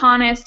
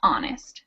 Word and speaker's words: honest: So the word honest is without the H sound, but spelled with the H. It's not honest, it's honest, right?